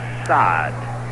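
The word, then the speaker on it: Saad: Spells his name S-A-A-D. I guess you would pronounce that as Sod.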